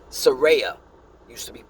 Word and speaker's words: Saraya: Oh, I'm sorry, I said her name wrong. Saraya used to be called Paige.